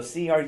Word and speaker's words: Cruzin: Cruisin', it's like you're cruising down the street, but without the G. So Cruzin Social Media.